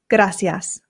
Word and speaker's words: gracias: That's because I live in Spain and here in Spain they pronounce the C's with a th sound f.